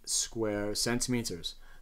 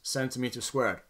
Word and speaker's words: square centimeters: And this leaves us with 99 square centimeters. The units are pronounced square centimeters. They are not pronounced centimeter squared. That is wrong, and you should not do it because it just shows ignorance.